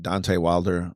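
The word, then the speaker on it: Deontay Wilder: When you were sparring, you sparred people like Deonte Wilder.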